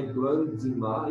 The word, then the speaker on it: grandma: Grandma é a mesma pronúncia, não é grandma. Esse B aqui, ó, é mudo.